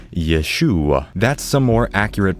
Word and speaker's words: Yeshua: Jesus' name in more Hebrew would be pronounced Yeshua.